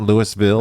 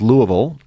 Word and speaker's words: Louisville: And that's how you pronounce that. It's not Louisville. Okay, It's not okay. Louisville. It's Louisville. And, that's where Southern Seminary is.